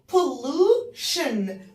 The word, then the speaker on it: pollution: P-O-L-L pollue. التي والاي والاو والان الاربع حروف دول مع بعض بننطقهم شن، فنقول pollution التلوث.